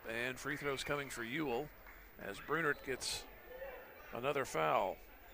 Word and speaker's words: Uhl: Free throw good by Ewell. UHL is how it's spelled.